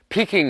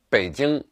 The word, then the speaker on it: Beijing: name in my view peking is just a wrong spelling that became popularized many years ago the city's name is pronounced beijing and it should be spelt in English with a B however the name Peking